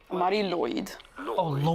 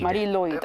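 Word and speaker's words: Mari Lwyd: about pronouncing it yeah in Welsh this is said as muddy Lloyd Marie Lloyd Marie Lloyd oh it's Lloyd of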